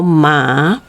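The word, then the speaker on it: 马: a horse okay now you can always remember horse like you call it mama you know like a mother ma okay a little bit lower the top the tone so we call ma uh horse now the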